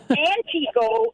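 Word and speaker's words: Antigo: places so I'm going to give you some pronunciation lessons Okay antio is antio a n TI Go o I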